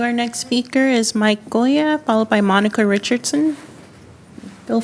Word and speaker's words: Goya: Our next speaker is Mike Goya, followed by Monica Richardson. Feel free to correct your name for the record. Uh, it's it's Goya. Goya, but but Goya is a good pronunciation, too.